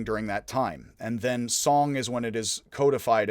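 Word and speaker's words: 선: It is spelled in English S-E-O-N, but I am to understand just like Seoul is Seoul but pronounced Seoul, it should be pronounced Son even though it is S-E-O-N in Korean.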